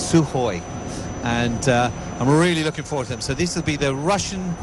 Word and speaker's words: Sukhoi: It's Sukhoi. Even though there's a K in there, apparently you don't pronounce the K. It's Sukhoi.